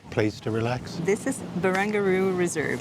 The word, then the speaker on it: Barangaroo: Barangaroo. Barangaroo. Barangaroo. It says right here, baby. Barangaroo. Very good. The only river in Barangaroo. Okay, There we good go. job. It rhymes with kangaroo.